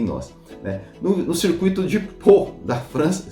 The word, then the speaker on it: Pau: No circuito de Pau da França, se pronuncia Pau, eu fui no Google procurar, tá?